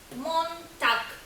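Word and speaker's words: Montag: німецькою мовою як вохнag перший день тижня у німецькій мові звучить як монтакк пам'ятаємо закінчення Ґ читається як к тобто відбувається оглушення даного звука альзунохаймаль Отже ще раз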